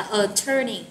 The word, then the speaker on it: attorney: Từ này mình nhấn ở âm số 2 nha các bạn nha. Mình đọc là attorney ha.